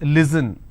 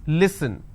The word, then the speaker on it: listen: i have the word listen they pronounce this as listen it's not listen it's listen they and the mistake